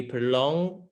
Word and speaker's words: prolonged: something takes um he prolonged he prolonged the business call to get out of his afternoon meeting okay so prolong is our verb prolong and then prolonged so we don't actually pronounce that ed and i'm not gonna